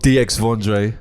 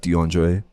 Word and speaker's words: DXVNDRE: guy's name it's not DX for Dre my name is French boy like they say are you from phrase like arm so my name is actually pronounced DeAndre the DX but the